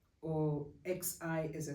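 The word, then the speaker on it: Xi: the Greek letter or x i as I said which is pronounced as KS the number ass associated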